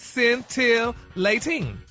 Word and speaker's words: scintillating: Oh, so so is it scentilating? There you go. All right. So this word, this week's word is scintillating, y'all. And it's an adjective and it's pronounced centilating.